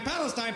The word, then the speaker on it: Palestine: last 50 years huh let's pronounce it right Palestine Palestine pal geez sorry whatever